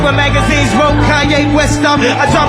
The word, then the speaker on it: Kanye: It's Kanye, but some of my plaques they still say Kane.